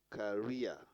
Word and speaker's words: career: on the second syllable career on the second syllable matua on the second